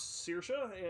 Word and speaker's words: Saoirse: or perhaps something more her name is pronounce Saoirse and is that means